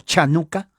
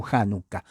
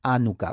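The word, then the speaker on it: Hanukkah: la dedicación que es se pronuncia hay dos pronunciaciones uno chanuca o hanuka es lo mismo pero es pronunciación chanuca o januca no la H es j en español les muda es anuka muchos dicen mi hermano porque es anuca no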